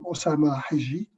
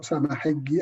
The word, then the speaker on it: Osama Hijji: My name, as Mahdi said, I'm Osama Hijji, or Osama Hijji, as we pronounce it in Egypt.